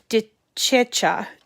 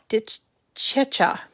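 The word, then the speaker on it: DeCecca: and then also um deborah de checha di chicha it's d-e-c-e c-c-a i did check no cha-cha that's the way i would pronounce it i'm italian and then also um the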